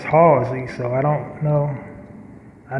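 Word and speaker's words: Hallzie: do a take to the announcer mispronounced my name they're saying housing and my name is halsey so i don't know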